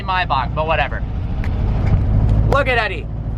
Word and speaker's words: Maybach: thing is like a mybach you guys don't like the way I pronounce Maybach then I'm going to call it mayback just kidding mayback music it's actually my Bo but whatever look at